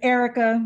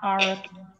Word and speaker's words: Erica: she is she's connecting it's erica not aura erica hi nice to meet